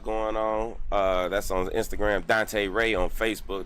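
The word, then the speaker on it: Dontée: Dante Ray on Facebook. That's DONTEE with an accent on the last E. Is African French.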